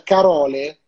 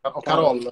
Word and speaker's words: Carole: Saluto, qua non so, tu aiutami, magari mi sai dire come si dice, come si pronuncia, Carole? Come si pronuncerà? Carol alla francese. No? Alla francese. Ah, Carol.